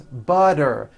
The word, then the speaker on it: butter: she's feeling better and butter becomes butter please pass the butter this should be simple